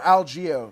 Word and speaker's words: Algeo: uh knockout knockout right absolutely so he even fought bill alejo yeah that's the ffc back in 2017 right so um or algeo that's what that that was the pronunciation that they went with so bill algios so